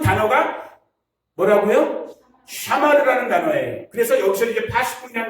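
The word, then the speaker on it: שָׁמַר: 샤마르. 뭐 발음은 조금 우리가 이상할 수 있어요. 히브리 사람이 아니니까. 다시 한번. 샤마르.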